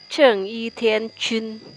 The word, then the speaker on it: Ceng It Thien Kun: Jadi kalau Hance-nya kalau dalam dialek Mandarin dibacanya Cheng Yi Tian Chun. Kalau yang tertulis di situ Cheng Yi Tian Kun itu istilah dalam bahasa Hokkien.